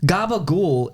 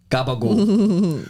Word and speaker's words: gabagool: Gabagool is just capicola mispronounced in an Italian accent.